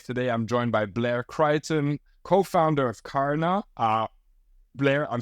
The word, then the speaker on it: Crichton: The CH for French people is so bad. So Crichton. Okay.